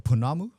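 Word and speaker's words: pounamu: amulet or uh we'd call this in uh Mai uh punamu punamu. Punamu. Punamu is just a Maui word for greenstone.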